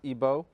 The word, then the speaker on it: Igbo: comes from Nigeria from the Igbo tribe otherwise pronounced ebo because like always Edom